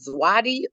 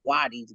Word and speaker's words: Zawadi: pronounce it, but it's is it Zwadi or Wadi's gifts? You said it right the first time. Okay. That's if I spelled Wadi's it the gifts. right way. You did. You nailed it.